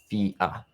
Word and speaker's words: Thea: And Thea, there we go, like Theo, like Theodore, Thea.